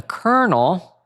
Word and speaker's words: kernel: So, a colonel, and that's spelled K E R N E L, not like how you spell a military rank, is a mathematical function